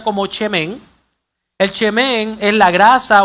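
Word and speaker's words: שמן: La primera se pronuncia como chemén.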